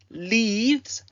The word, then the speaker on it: leaves: Leaves and arrives both end with a soft Z sound. So leaves, arrives.